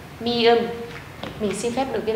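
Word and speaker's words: 미음: Phụ âm này được đọc là M. Tên của nó là mi ưm, mi ưm.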